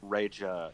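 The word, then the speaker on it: Rexha: That Baby Rexa / or Reja is actually how you pronounce it in Albanian, but fuck, whatever.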